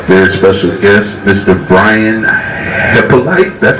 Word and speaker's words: Hyppolite: correct people pronounce it it's a haitian name so that's that's the correct way but i just found that out a few years a few years ago i've been saying hip like okay okay what